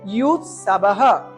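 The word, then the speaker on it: युयुत्सवः: অন্তের জকে সংস্কৃত উচ্চারণ হয় ইয়। ওই জন্য আমরা উচ্চারণ করব ইউ সাবাহা।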